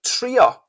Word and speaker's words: trio: Trio, it sounds a bit like the English.